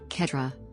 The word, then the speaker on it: quatre: The French word for the number 4, quatre, is pronounced similarly to the word cat in English.